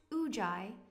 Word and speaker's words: Ujjayi: Pronounced Ujjayi, it means to be victorious.